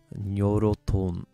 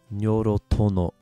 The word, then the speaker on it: Nyorotono: This one is nyoroton. Sorry. Nyorotono. Not quite sure how to translate that one, but again, that's kind of how it's pronounced.